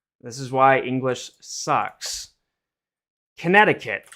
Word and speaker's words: Connecticut: is why English sucks Connecticut it sounds like uh uh kanetta it sounds like it'd be like this right but the way it's spelled is connect to cut uh connect I hope